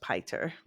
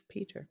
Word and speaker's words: Piter: It should be pronounced Piter, but it The name is so Dutch, and it's Peter.